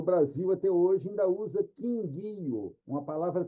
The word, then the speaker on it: Kingyo: Como você disse, a pronúncia aí, Kingyo, né? Beleza, é isso daí mesmo. Essa é a pronúncia japonesa, né? E o pessoal no Brasil até hoje ainda usa Kingyo, uma palavra trissílaba.